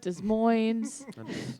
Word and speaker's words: Des Moines: Des Moines.